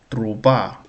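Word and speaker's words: труба: truba truba truba Last syllable stressed.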